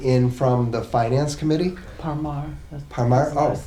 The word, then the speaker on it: Parmar: Parmar.